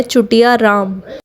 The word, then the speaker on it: चुटियाराम: स्कैेंडलस नहीं है क्योंकि इसकी करेक्ट प्रोनाउंसिएशन है चुटिया राम चोटी चुटिया जिसको हिंदी में शिख भी कहते हैं।